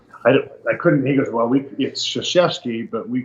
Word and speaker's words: Krzyzewski: And I said, "It's Mike Krzyzewski, but it's spelled you look at it, it's like, Krzyzewski, crazy. I couldn't. He goes, well, it's Krzyzewski, but we call him Coach K.